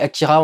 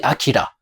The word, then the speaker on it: Akira: J'espère que ça vous a plu, que j'aurais dû prononcer Akira. Avec un R qui ressemble beaucoup plus à un L en principe, mais c'est beaucoup plus facile de dire Akira.